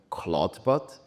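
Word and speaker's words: Clawdbot: audience where I presented back then Cloudbot. Very careful, the D is silent.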